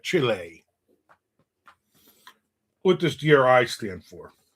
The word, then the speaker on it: Chile: You gotta say it like that, Chile.